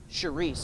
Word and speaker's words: Charis: soul of the damned Charis. I think that's how you pronounce it. It's spelled C-H-A-R-I-S.